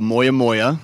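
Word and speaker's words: Moyamoya: Yes, it's called Moya Moya.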